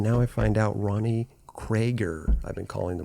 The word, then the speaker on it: Creager: Yeah, I was going to say, I don't think it's Krieger. Creager? Like a little mix of both.